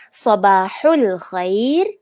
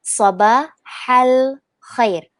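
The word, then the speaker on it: صباح الخير: Boleh dengan sabahul khair atau sabahal khair.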